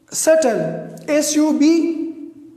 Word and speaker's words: subtle: Similarly, subtle, S-U-B-T-L-E. The B is before T, so this B is silent.